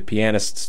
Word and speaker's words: pianist: no must be the pianists do it yes so that's not really how you pronounce that word it's pianist let's get it right pianist pianist that's what I